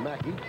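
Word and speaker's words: McKie: 12 shamad Wells and pass is good BJ Macky number three it's spelled MC K IE he pronounces it Mackey and it's Paul Pierce who's on the floor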